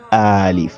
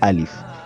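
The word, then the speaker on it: ألف: We don't say alif, we don't elongate it, we say alif.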